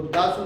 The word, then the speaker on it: 出す: पढ़ते हैं, उसको देरू भी पढ़ते हैं, उसको दासु भी पढ़ते हैं, उसको शुक भी पढ़ते हैं।